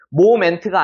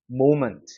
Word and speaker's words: moment: 위중 몸이 적용이 되니까 얘는 오 발음이 나는 거예요 그래서 모먼트가 되는 겁니다 moment 모멘트가 아니라 moment 알겠죠 자 마지막 4번